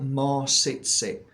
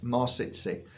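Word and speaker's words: Mawsitsit: so this is called more sit sit so it's spelled m a w sit as in sit down sit sit more sit sit this is a beautiful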